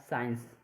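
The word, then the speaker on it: science: Discipline में क्या है, एस के बाद सी आ जाएगा तो इसमें सी साइलेंट है, सी को नहीं बोलेंगे। जैसे तीसरा है साइंस, इसमें क्या है, एस के बाद सी आ जाए तो इसमें सी साइलेंट है और साइंस हो जाएगा।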